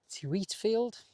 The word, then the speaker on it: Tewitfield: I think it's pronounced Titfield Marina, but it means the first part of the journey was driving up to Preston.